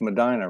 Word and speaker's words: Medina: up in Ohio it's Medina right happy no hot yeah yeah that's how they pronounce that's how they pronounce it in the Upper Midwest hello Trinity Unified okay